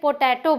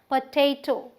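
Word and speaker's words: potato: तो आलू के साथ जाती होगी अगर आप इसे पोटैटो बोलेंगे, क्योंकि ये पोटैटो नहीं है भाई, ये है पोटैटो, पोटैटो। हम जो स्ट्रेस दे रहे हैं वो यहाँ दे रहे हैं टे पे, इसलिए ये पोटैटो है।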